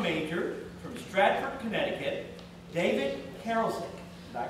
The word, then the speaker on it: Karasik: All right, and then our next speaker will be a sophomore accounting major from Stratford, Connecticut, David Karasik. Did I pronounce that correctly?